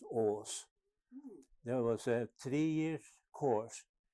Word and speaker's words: Aas: very difficult because it's spelled AAS and pronounce OS there was a three-year